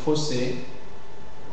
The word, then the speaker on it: fossé: Et finalement, les mots dérivés des mots qui se terminent en O-2-S-E. Les mots qui se terminent en O-S-E, 2-S-E, et qui dérivent de ces mots, alors on les prononce aussi fermés. C'est le cas des fossé et grosseur.